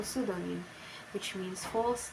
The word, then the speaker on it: pseudonym: PS, pronunciation S, example pseudonym, which means false name.